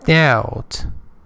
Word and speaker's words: doubt: D I S P U T four doubt. Remember B is not pronounced is silent.